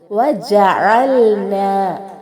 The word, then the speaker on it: وجعلنا: ഇവിടെ ഐനിന്റെ ഉച്ചാരണം പ്രത്യേകം ശ്രദ്ധിക്കണം. ഹംസയിലേക്ക് മാറിപ്പോകരുത്. വജഅൽനാ, ന എന്ന ദീർഘം സാധാരണ ദീർഘമാണ്. അവിടെ രണ്ട് ഹർക്കത്തിൽ കൂടുതൽ നീട്ടാൻ പാടില്ല.